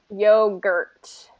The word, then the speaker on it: yogurt: that t yogurt yogurt so the reason it's sounding like yoga is because you're not getting the strong r and you're not getting the ending t so you got to get those r and t at the end yogurt gert so say